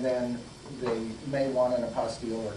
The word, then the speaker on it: apostille: they may want an apostille or not and it's spelled p-i-l-l-e very much close to Apostle but it isn't and it's just think